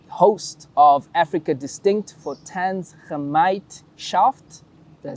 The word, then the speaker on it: Gemeinschaft: And he is the host of Africa Distinct for Gemeinschaft. Did I say it right? Yeah. Gemeinschaft in Belgium.